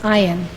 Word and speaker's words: ayin: that's spelled a y n but it is pronounced iron they saw the iron unfold step by step